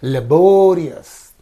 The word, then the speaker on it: laborious: say injurious injurious so similarly laborious is there so the suffix is in these two syllables so the syllable before the suffix is this one so we have to say laborious laborious right and then uh